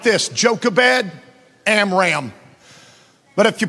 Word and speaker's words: Amram: They're spelled like this, Jochebed, Amram. But if you pronounce them correctly, it's Jochebed.